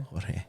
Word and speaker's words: Jorge: The official pronunciation is Jorge. Jorge. It is. Okay. And I spell it like that too. Yes. Yeah. So thank you, Jorge, for Jorge Alonso.